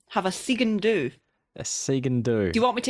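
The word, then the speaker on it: sgian-dubh: And how's that pronounced? The do that's not... Segan do.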